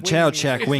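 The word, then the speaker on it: Chau Chak Wing: the Sam, can you help us with the pronunciation of that museum? It's the Chow Chak. That's the Chow Chak Wing the Museum.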